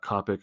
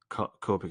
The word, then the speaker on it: Copic: And it says the long O, Copic, Co.